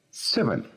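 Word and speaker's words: seven: Decimos 7. El acento está en la primera sílaba. 7.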